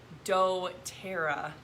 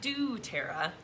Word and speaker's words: doTERRA: gonna go there just everybody say it with me doe tara doterra doterra not do tara doterra that's like my the